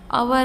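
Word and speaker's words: hour: अवर आ गया तो अवर का एच जो है वो साइलेंट रहता है, इसीलिए यहाँ पे हम क्या यूज़ करेंगे, एन।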